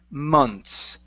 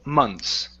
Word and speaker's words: months: the word months okay so don't worry about the th here okay uh you're going to pronounce that like months okay so like like so months what's my question if with the um breath was the same uh breaths no breaths is different you're going to pronounce the th with months the reason why we can uh make it disappear is because of the N okay okay so uh